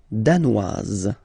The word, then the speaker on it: danoise: Le Danemark, danois, danoise. Okay, insist on that. Danois, don't pronounce the final S. Danoise, here you pronounce it.